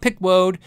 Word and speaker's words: Peckwode: Because came up to me once in the store and said, you know, you've been saying my name wrong forever. It's Peckwode, not Wood, but Peckwode.